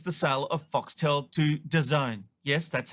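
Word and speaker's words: DAZN: story today is the sale of foxtail to design yes that's how you pronounce it for a deal worth a whopping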